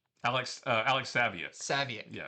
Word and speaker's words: Saviuk: We have this and I always mispronounce his name. Uh You say Suviak? Alex Alex Saviuk.